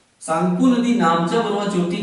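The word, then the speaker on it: Tsangpo: सांगपो, आधा ग, शुरू में इंग्लिश में पढ़ेंगे तो टी लिखा होता है, टी साइलेंट होता है, इसे हम सांगपो कह सकते हैं।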